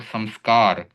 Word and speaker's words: संस्कार: अब य र ल व श स और ह इनके पहले आने पर अनुस्वार का उच्चारण म जैसा होता है। जैसे यहां पर उदाहरण दिया गया है संयम और संस्कार।